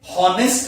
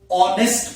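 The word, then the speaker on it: honest: अब जो ऑनेस्ट word है इसमें एच साइलेंट है, जबकि वर्ड एच आया हुआ है। लिखने में हमने एच लिखा है, पर बोलने में हॉनेस्ट नहीं पढ़ते, इसको ऑनेस्ट पढ़ते हैं।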